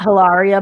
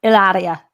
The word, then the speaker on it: Hilaria: And actually, it's not Hilaria Baldwin; it's Hilaria.